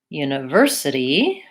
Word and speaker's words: university: Valley faculty faculty similarly University University third syllable stress univer city the city is one to watch out for we tend to use a flap T sounds a little bit like a D and we have to